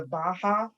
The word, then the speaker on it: Baha'i: He's in is it the Baha'i? How do you pronounce it? Baha'i.